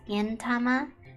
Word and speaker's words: Gintama: my favorite anime was Gintama yeah gin with a G not a k because if it's a k it turns into a different word so be careful out there pronunciation is important so Gama um I